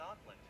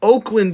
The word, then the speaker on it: Oakland: The surviving special forces are leaving the city to strengthen their positions in Auckland. Did you just pronounce that Auckland? It's Oakland, you idiot.